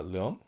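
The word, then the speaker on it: Leong: And this is a film that I had very little expectation of directed by Pochi uh Leon that's how you pronounce it.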